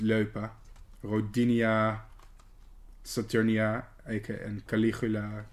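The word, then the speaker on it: Loepa: Leupa. Yes, that's pronounced Leupa.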